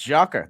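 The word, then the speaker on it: Gyökeres: crowded but come on it's Joker that's how you say his name look it up um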